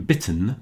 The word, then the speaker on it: bitten: So those two T's are there to maintain the same pronunciation on the I as in bit.